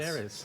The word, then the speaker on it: Linhares: Linhares.